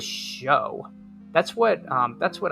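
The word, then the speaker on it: Shough: I think it's pronounced like shock. I thought it was show.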